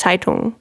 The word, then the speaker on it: Taitung: the end but actually because it has the n in front of it it's more like you're swallowing it you don't really pronounce it that clearly it's taitung i see i think